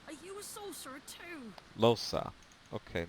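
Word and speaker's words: Lohse: Hi, Losa. I'm Tam. Are you a sorcerer too? Losa. Okay, now I know how to say her name instead of Los, even though it should be with an A.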